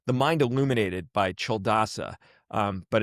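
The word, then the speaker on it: Culadasa: It's called the mind illuminated by Cheldasa. Um but it's spelled like you you would think it's pronounced coldasa.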